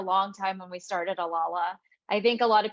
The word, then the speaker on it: Alala: I'm joined by the amazing Denise now I pronounce it alala is that correct that's correct boom into it